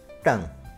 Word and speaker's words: tongue: Number 2, tongue. And the silent letters are U, E.